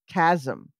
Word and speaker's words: chasm: This says, I'm looking up, it says chasm with a K in the pronunciation section.